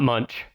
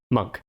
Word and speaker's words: Munch: the way I realized I was saying his name wrong not Munch monk I didn't want to